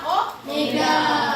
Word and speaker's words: omega: atau disebut Omega ya jadi lombangnya memang kayak W cuman bacanya Omega Nah kita lihat pengertiannya